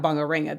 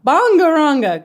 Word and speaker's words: Bangaranga: I kept looking at this word thinking is it Bangaringa or Bangaranga? Hopefully not Bangaringa, that'd be like defying the pronunciation within itself. So, anyhow, Bangaranga, good to know.